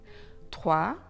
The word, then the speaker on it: trois: TROIS: la lettre S à la fin du mot est muette.